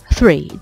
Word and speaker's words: three: 이 TH의 드 비슷한 소리가 들어가는 단어로는 날씨, weather 같은 단어들이 있고 또 스 비슷한 소리가 들어가는 단어로는 삼, three 같은 단어들이 있는데 삼 발음할 때 굉장히 힘들어하는 분들이 많은데요.